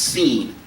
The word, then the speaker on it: Sin: So it's not sin like when you transgress God's law. It's pronounced seen.